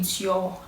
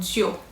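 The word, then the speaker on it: 九: 9 but yeah um the way he pronounces the nine is not quite correct because the tone is is not correct it's but he said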